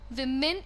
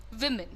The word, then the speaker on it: women: Make sure you remember that it is not women, it is not women, it is women. Understand? Women. All right. So बड़ी ई की मात्रा ना लगाएं.